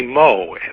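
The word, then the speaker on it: Meaux: by the name of Huey MO and that's spelled me aux who uh who served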